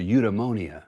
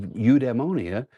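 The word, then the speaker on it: eudaimonia: I was like, I'm not going to call it udeimmonia total fitness. That's just, you know, it rhymes with pneumonia for one thing, but it's not very catchy.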